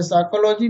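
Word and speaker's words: psychology: यदि शब्द पी से शुरू हो और उसके तुरंत बाद ऐसे एन आए तो पी साइलेंट रहता है। साइकोलॉजी मीन्स मनोविज्ञान, साइकोलॉजिस्ट मीन्स मनोचिकित्सक, साइको मीन्स मानसिक, निमोनिया।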